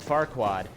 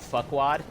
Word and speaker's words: Farquaad: But the way he says Farquaad, more often than not, it comes out fuckwad. He kind of schwas out that R in the first syllable.